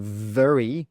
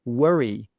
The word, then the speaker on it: very: So instead of saying very, very, they'll say worry, worry with a W, but that's not correct.